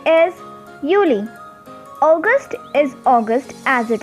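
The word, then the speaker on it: Juli: you know already that j is pronounced as y in german so the next month which is june in german it is called is uni same we have july pronounced as yuli august is august as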